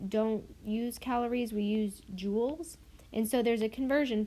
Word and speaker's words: joule: The two most common one are joules and calorie. So it's pronounced like joule.